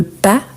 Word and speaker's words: pas: il en a la forme négative quand on prononce le pas vous voyez qu'on ne prononce pas le S